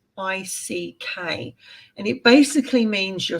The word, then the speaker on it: Magick: And it's pronounced Magick.